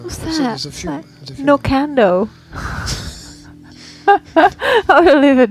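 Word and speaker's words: Knockando: Nokando. I want to live in Nokando. I believe it's pronounced No Can Do. Oh. I thought it was just like Commando. But with knocking.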